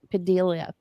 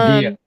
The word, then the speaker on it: Padilla: I was sitting there thinking about Senator Alex Padilia. I guess that's how you say his name. Um, Padilla.